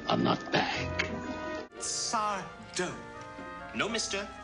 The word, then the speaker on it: Sardo: Sardo. No, mister. Accent on the dough.